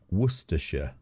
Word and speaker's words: Worcestershire: Worcestershire. Worcestershire.